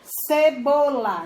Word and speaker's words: cebola: Cebola. Não tem acento, mas a sílaba tônica é bo.